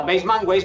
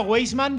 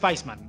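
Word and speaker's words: Weissman: Respecto a Weisman, como no sé cómo lo pronunciáis correctamente. Yo el primer día Weisman, pero me han dicho que es Weisman, así que lo pronuncio Weisman.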